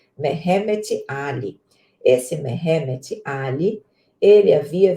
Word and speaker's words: Mehemet Ali: é exatamente o espírito Mehetmet Ali. Eu não sei pronunciar esse nome, tá? Mas me parece que é Mehetmet, é isso mesmo, Mehemet Ali. Que nome difícil, Mehemet Ali.